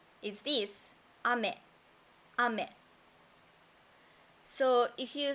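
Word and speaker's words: 飴: And next, we have a word ame. That means candy, sweet. Ame. The pitch accent is like this. Ame.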